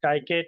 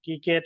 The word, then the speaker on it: scikit-learn: It's basically used for the machine learning in Python, or someone can pronounce it as skykit or kikit, or you can just use it.